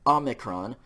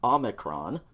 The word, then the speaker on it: omicron: draw an o okay omicron this is a short o sound and so it's going to be the o in omelette that starting o in the word amalet ah omicron okay so this is